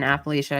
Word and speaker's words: Appalachia: When people say cryptids in Appalachia, I think of or Appalachia, depending on how you say it or where you're from, but uh throw an apple at you.